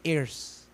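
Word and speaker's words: heir: all things tayo joint airs ang term ng Bible air Di ba hindi error ha air yung h Syempre silent yun di ba p binanggit mo yun silent h so si Kristo air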